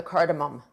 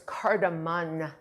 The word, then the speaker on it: cardamom: I used to think it was cardamon, and a lot of people, when I was in culinary school, used to call it cardamon, but it's cardamom, like your mom, like your mom's got a bum. So, it's mom, almost like m o m, and it